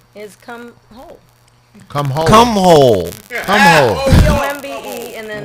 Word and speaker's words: Holcomb: HOLE COME. I DIDN'T DEBAUCHLE IT. IT'S STILL THERE. IF that's it, that's how you say it.